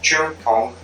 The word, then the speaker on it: Cheung Kong: the associate Dean and chief representative uh of Chung Kong Graduate School of Business do I pronounce it correctly yes correct okay very well